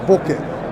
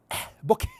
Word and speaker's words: bokeh: Without the H, it's bokeh. If it's with the H, it's bokeh. Bokeh, right? The bokeh. like the way you say it, but the way I say it's bokeh because H is supposed to be silent.